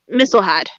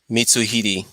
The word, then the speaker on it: Mitsuhide: And it does look like they are focusing more on Nobunaga and Mistlehide.